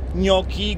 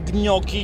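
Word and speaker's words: gnocchi: i ty nie wiesz jak się wymawia wypowiada wymawia nioki gnoki gci A co skąd ty jesteś Skąd ty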